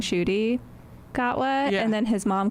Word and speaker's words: Ncuti Gatwa: Plus with the doctor whose name I cannot pronounce cuz there's a lack of vowels. Oh, Ncuti Gatwa.